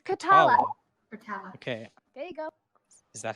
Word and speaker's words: Kotala: remind me again what is your name Natalia it's khatallah okay is that how you spell that okay nevermind that's how it's pronounced khatallah